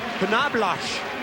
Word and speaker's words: Knoblauch: I just found out today that Knobloch in German is pronounced Knoblauch, and it stands for garlic.